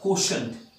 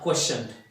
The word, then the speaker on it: quotient: did it is called quotient Q u T E and T my dear it is shunt quotient not questioned so you have to be very careful when pronouncing this word and the number which